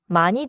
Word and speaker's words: 많이: Pronounciation point in 많이 드세요.